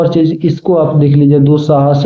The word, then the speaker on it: दुस्साहस: है ना ये आपका संस्कृत में आधा स जो है वो पढ़ा जाएगा। क्या पढ़ा जाएगा? आधा स। जैसे दुस्वप्न, दुस्साहस, दुस्सह। ठीक है, ऐसे इसको हम लोग स का उच्चारण लाते हैं।